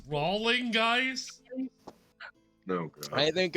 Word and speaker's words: Rowling: grave it's pronounce rolling guys I think it's